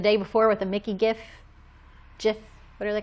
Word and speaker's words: GIF: I would call it a GIF. Because it stands for graphic. Oh, The person who came up with that word says GIF. Really? But he is wrong. Yeah, it's a hard G. GIF.